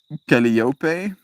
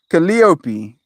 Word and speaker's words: Calliope: It's like the names Calliope, Penelope, Persephone. The accent is one of the second syllables and the final E is pronounced. Hyperphony. Persephone. Sorry. Penelope. There we go. Calliope, I guess.